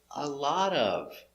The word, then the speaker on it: a lot of: you want to say a lot of so pronunciation A lot of put the words together with the T sounding D D D D D A lot of a lot of examples